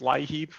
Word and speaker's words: LIEAP: program we app the federal government actual programs lie heap we just leave out the home part because it's kind of implied but you'll hear different pronunciations of the program colorado's leap so lee app is what we use and it's a federally